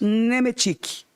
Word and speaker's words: Nemetic: O nome dela original é Nemetzik, mas pronuncia Isso aí é judeu-polonês. Nemetic.